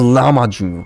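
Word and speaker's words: Lahmacun: It's pronounced Lama Jun. Lama Jun. Okay. Jun. Lama Jun. Lama Jun. Now I'm curious. I want to see what the Lama Jun looks like. Let me. Lama Jun. Lama Jun. Lama Jun. Oh wait. I did an oopsie. I spelled it like Lama Jun like that, so it doesn't show anything. I have to spell it as Lama Chun.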